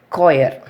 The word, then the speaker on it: choir: For example, we can take choir, CHOIR. We are not pronouncing the H, choir.